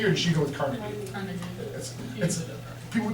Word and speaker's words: Carnegie: Did she pronounce it Carnegie, or did she go with Carnegie? People, today we say Carnegie, back then it was Carnegie.